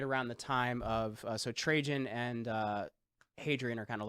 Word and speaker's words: Trajan: Trajan, how do you pronounce that? Yeah, Trajan. Trajan. That was an empire.